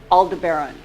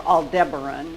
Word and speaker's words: Aldebaran: Up here, Aldebaran, or Aldebaran, whichever pronunciation you prefer.